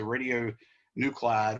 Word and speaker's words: radionuclide: pronounced radionuclide so cli it's almost like you got two eyes in there so that's the way